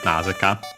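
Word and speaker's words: なぜか: The accent is still on the na of nase, nazeka.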